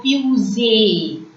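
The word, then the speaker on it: fusée: One E comes with an acute accent. So, fusee. Last E remains silent.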